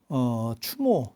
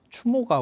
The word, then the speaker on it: 추모: 해보도록 하겠습니다 참고로 말씀드리면 주몽은 아니고요 추모 추모가 원래 제대로 된 일입니다 주몽은 약간 발음이 바뀐 거라고 보시면 돼요 추모 추모왕 그리고 추모왕이 이제